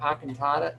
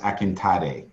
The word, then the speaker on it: Akintade: thank you um Dr AATA did you were you going to say something no not not at this point just listening and you're you're actually really close uh my name is pronounced akintade my apologies you're close